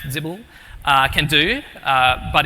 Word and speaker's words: XBL: It's kind of similar to what XBL, or as I've discovered today is pronounced Zibble, can do, but it's